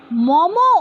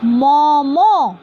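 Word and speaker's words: मम: কেউ বিসর্গ দেবে না, because this pronunciation is momo. What? momo, not mom. If I say mom, then you have to give halant. If I say momoho, then you have to give visarga.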